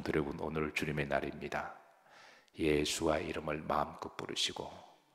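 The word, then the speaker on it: ישוע: 히브리 말로는 따라서 하십니다 예수와 예수아라는 뜻이죠 예수와 예수와는 예수님이십니다 우리가 여러 번역을 번역을 번역을 통해서 우리가 이제 예수님이라고 예수라고 부르지만 이게 원래 히브리식 발음은 예수와입니다 그래서 성경에는 그 이름의 비밀이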